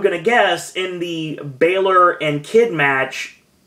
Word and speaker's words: Balor: get us in the Baylor and kid match Balor and kid match I gotta use to that because the the pronunciation is crazy the way it's spelled the Balor and a